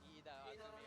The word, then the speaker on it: Ida Azumi: Yes, Ida Azumi. If we say it in the Japanese way, we say the last name first and the first name last.